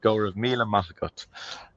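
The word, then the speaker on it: go raibh míle maith agaibh: the Irish language um as you can see you would not think that's how it's pronounced looking at that but go of mea mot um so if there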